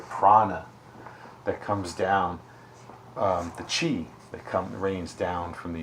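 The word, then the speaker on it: 痴: It's pronounced Chi, and it's unconsciousness, delusion, perplexity, infatuation, ignorance, folly,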